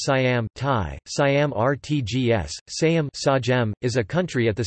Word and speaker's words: Siam: By outsiders prior to 1949, it was usually known by the exonym Siam Thai, Siam Rtgs, Siam, pronounced Sajem, also spelled Seam, Siam, or Siama.